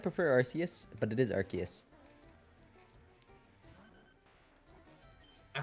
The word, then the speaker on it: Arceus: I kind of prefer Arceus, but it is Arceus.